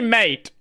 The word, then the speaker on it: MATE: Mate is the correct way to pronounce it. If you want it to be mate, put a accent on it.